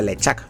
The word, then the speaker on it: LeChuck: Hasta que no llegaron las voces al mundo de los videojuegos, no descubrí que se pronunciaba LeChuck, claro.